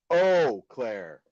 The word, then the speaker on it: Eau Claire: Oh, Claire. Eau Claire. We got it. We got them. All right. Why don't y'all spell it that way then? Damn it. Because it's French, dude.